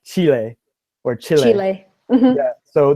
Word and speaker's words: Chile: So Bourneville, Chile is Chile, right? So if we follow the rules, the country we would read as child, but we do not follow the rules for Chile. We just say Chile.